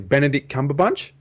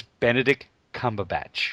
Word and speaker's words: Benedict Cumberbatch: I say his name properly Benedict cumber bunch I can he'd be good I think that's how you pronounce his name okay uh he's going to